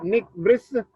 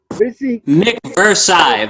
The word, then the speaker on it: Nik VRSI: Pronounce the name, Nik. Nik VRSI. Nik VRSI.